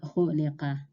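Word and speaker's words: خُلِقَ: This is pronounced khuliqa.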